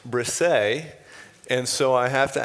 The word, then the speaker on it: Brissa: uh his name is spelled b-r-i-s-s-a and it's pronounced brisay and so i have to ask where what